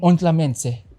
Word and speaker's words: Ontlametse: Ontlametse. Am I saying it right, man? Ontlametse. Ontlametse. Ontlametse. There's no N.